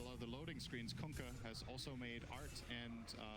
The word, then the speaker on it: Kunkka: Did you hear the way Tide yelled it? That's how you pronounce it. You're welcome. Kunkka.